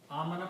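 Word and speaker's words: آمن: Amana means to believe. Okay. Amana, when you put a hamza before alif, should be pronounced amana, means to believe.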